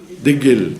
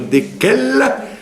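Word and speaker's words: דקל: Degel. Pour dire le palmier, au lieu de dire dekel, ils disent degel.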